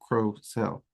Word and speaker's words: Crocell: Crocell is how I've always heard it pronounced. I have heard a few people pronounce it Crocell, but I've always heard it with the hard O, Crocell.